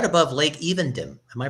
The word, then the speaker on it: Evendim: And I think if I remember right, where Aragorn's walking, he's right above Lake Evendim. Am I pronouncing that right?